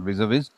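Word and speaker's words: vis-à-vis: It's not visav. It's a visav. It's pronounced as visa v means compared to.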